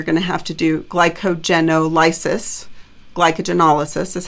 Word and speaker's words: glycogenolysis: But then once you run out of glucose that's just circulating in your bloodstream, you're going to have to do glycogenolysis. Glycogenolysis is how you pronounce it.